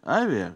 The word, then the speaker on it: Avia: начало самый корень компании Avia вернее как правильно ударение на первый слог корни лежат в Индии